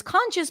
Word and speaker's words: conscious: is easier for you okay two syllables the first syllable is the stressed one we have the Oz and father con and then chis conscious now this is conscience